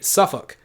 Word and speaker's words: Suffolk: So we would say Suffolk, but there's an L there, right?